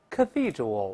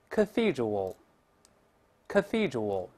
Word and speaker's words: cathedral: 我们再大声读一下，cathedral，出现 th 了，要把舌头吐出来一点。我们再来一遍，cathedral，哎，这个叫大教堂